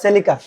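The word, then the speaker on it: Celica: দেখিয়ে দেই সেলিকা সেলিকা উচ্চারণটা হবে সেলিকা ব্রান্ডের 15 সিসির একটি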